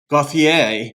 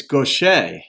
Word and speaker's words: Gauthier: I thought it might be French, of course, Gauthier. But she said, Renee said it's Gauthier.